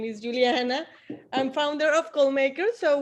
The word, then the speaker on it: Juliana: I'm from Colombia and we say Juliana, but everyone here call me Juliana.